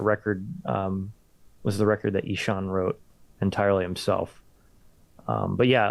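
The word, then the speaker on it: Ihsahn: The one connection I have to Ishan how's that how you say his name? Ishan? Sean.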